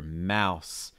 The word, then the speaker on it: mouse: Our first word here, mouse. Mouse. Again, making sure you get that ow sound.